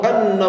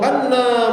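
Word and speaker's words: أنّ: seharusnya membacanya ashadu alla ilahaillallah wa ashadu anna muhammadar rasulullah. Tetapi di antara kita membacanya salah. Ashadu alla ilahaillallah wa ashadu anna muhammadar rasulullah. Anna yang seharusnya dibaca pendek ternyata dibaca panjang.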